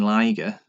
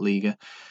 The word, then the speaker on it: Liger: Expect a little bit more from Jushin Liger, as I've learned to pronounce his name, not Liga.